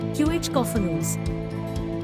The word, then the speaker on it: cacophonous: To correctly pronounce cacophonous, accent the second syllable, qh-cophonous.